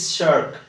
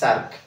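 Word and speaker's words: shark: SS sound আছে তো ইট ইজ শার্ক নট সার্ক কেমি sound হবো না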